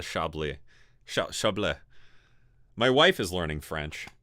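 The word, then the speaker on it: Chablis: a fun one um isn't that pronounced shably yeah this is not the Chaplet it's the chably my wife is learning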